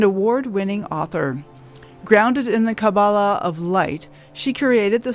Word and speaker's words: Kabbalah: start off by telling me, how do I pronounce Kabbalah? Is it Kabbalah or Kabbalah? Kabbalah? No, Kabbalah. It is Kabbalah.